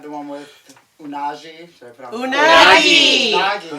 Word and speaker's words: Unagi: Number 5, the one with Unagi. Should I put on Unagi. Nagi. They say it 100 times in that And then, so I was episode. like, no, it's not a hard G.